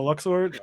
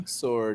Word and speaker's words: Luxord: I'm a big fan of Luxord, if that's how you even say it.